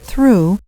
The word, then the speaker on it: through: For example, in the word through, the GH is silent.